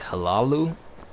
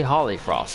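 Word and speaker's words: Hollyfrost: do you say that halalu halalu Farm is that how you say it Holly Frost Farm see that simple words to say Holly Frost not halalu wait why am I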